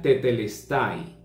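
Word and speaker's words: τετέλεσται: el espíritu consumado es esa frase en el griego es una sola palabra se pronuncia tetelestai Y eso significa completado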